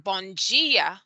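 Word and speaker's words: bom dia: words you'll see that the d i and the d e are pronounced as if the d is actually a j and the t e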